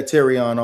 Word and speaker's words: Terrion: Yeah, Terrion Arnold.